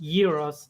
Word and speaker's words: gyros: is g-y-r-o-s yeah and not realizing that that's pronounced Euros they spell it like it looks which is